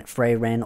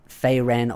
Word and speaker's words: Frieren: and the new anime that's just been airing, Frieren or Frieren, or whichever one you want to pronounce it as, Frieren, some people say.